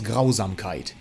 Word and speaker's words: Grausamkeit: Next one is Grausamkeit. Yes, that's how you pronounce it, it's German.